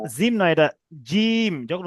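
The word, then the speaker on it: جيم: তাম জিম নয় জিম নয় এটা জিম যখন উচ্চারণ করবেন জীবের জীবের মাঝখানটা উপরের তালুর সঙ্গে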